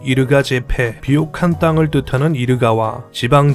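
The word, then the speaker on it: Yirgacheffe: 얘가 체프는 지형 같은데 현지 발음으로는 이르가 제패.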